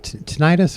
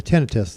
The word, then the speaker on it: tinnitus: when we say tinnitus um yeah tinnitus or tinnitus they're both pronunciations okay uh involves uh